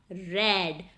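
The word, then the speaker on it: read: सो मैंने नहीं पढ़ा था, आई हैड नॉट रेड। हम रीड की जो थर्ड फॉर्म है, स्पेलिंग सेम रहते हैं लेकिन परनेंस उसको रेड करते हैं।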